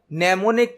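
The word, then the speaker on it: mnemonic: यहां पर नेमोनिक की स्पेलिंग एम से स्टार्ट होती है लेकिन एम साइलेंट होता है, इसे कहा जाता है नेमोनिक कोड।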